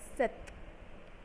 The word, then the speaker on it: cette: CETTE, it is pronounced as Seth.